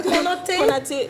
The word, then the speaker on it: Konaté: Konaté. Ah, Konaté. Alors, le ko là, c'est kou.